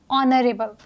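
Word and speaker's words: honourable: कैसे प्रोनाउंस किया है ऑनरेबल ठीक है हमने इसको माननीय प्रोनाउंस नहीं किया है क्योंकि ये एक साइलेंट कॉन्सोनेंट है ये एक म्यूट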